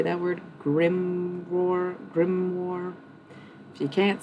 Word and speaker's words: grimoire: Like a gimroar. How do you say that word? Grimoire.